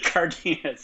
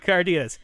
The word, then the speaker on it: Cardenas: Is it Cardenas? Cardenas? How do you pronounce Rocky's name? Cardenas, yeah. Cardenas.